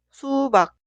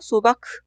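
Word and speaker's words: 수박: esta palabra significa sandía se pronunciaá suba suba no se pronuncia subac es esta vez utilizamos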